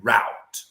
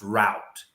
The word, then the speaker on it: Rout: last name there, because my last name is Rout. In Georgia, in Baton Rouge, is pronounced Rout. In Los Angeles, California, it's Rute. In South Georgia, it's Root.